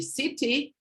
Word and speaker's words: city: What happens is this r sound occurs intervocalically, and you need to have the stress preceding that syllable. What's interesting is that some words present this type of flap very commonly, and it's city is one of these words. I tend to say city, but I could say city.